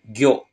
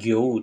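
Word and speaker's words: 魚: itu cuma satu yaitu Goo o-nya pendek Goo bukan Gou tapi Goo kayak gitu ya minasang Cara pakainya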